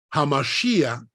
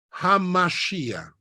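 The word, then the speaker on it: hamashiach: segundo nombre de Jesús Mesías Mesías en realidad hamashia es una palabra hebrea hamashia ha m sh i a c h hamashia que significa Mesías Jesús se pronuncia yeshua yeshua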